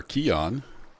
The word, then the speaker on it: Archean: daddy folks welcome back to our Keon I'm actually say that right now that I've learned what it's actually pronounced like I said it wrong the first